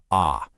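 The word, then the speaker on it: அ: Ah. It's pronounced like our letter A.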